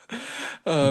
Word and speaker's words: Boudreau: Boudreau, Boudreau, yes.